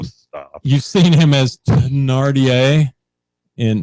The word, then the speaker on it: Thénardier: you've seen him as Thénardier in, is that how you pronounce it? Yes, Thénardier. Thénardier. Wow, I got that right.